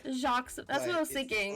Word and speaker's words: Jacques: It's pronounced Jacques. Jacques, that's what I was thinking.